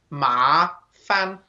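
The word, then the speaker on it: 麻烦: okay just like you're flicking it up fan ma fan okay that's how we pronounce it and this means troublesome bothersome okay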